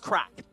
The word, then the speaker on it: craic: um it's it's pronounced crack as in the crack I'm Irish so you know the the as in a good time the crack uh so state that